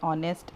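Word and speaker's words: honest: तो चूँकि एच तो कॉन्सोनेंट है बट इसका साउंड है ओ, इसीलिए हमें इसके आगे एन लगाना पड़ता है। ठीक है, तो जो भी साउंड अनसाउंड हो या साइलेंट हो, इस तरह के वर्ड के आगे हम एन का इस्तेमाल करते हैं।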